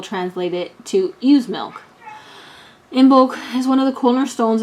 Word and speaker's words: Imbolc: a very pretty statue okay in bulk format pronounced immolque um also known as omek comes from an irish word that was originally thought to mean in the belly although many people translate it to use milk imbolc is one of the cornerstones of the celtic